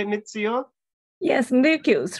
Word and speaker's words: Ryukyus: Yes, Ryukyus, Ryukyus, yes.